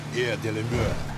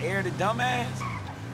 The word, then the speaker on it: Air de la Mer: You gotta say it like that, like you French. Air de la Mer. Oh, yeah. Not Air the Dumbass.